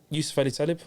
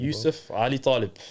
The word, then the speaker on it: Yusuf Ali-Taleb: So Yusuf Ali-Taleb on Instagram. Bro, say it properly. Yusuf Ali-Taleb. Why'd you do that for? Why do our people do that? Don't anglify your name, blood.